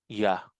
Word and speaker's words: Yah: Yod, Hey, ang basa dyan ay Ya.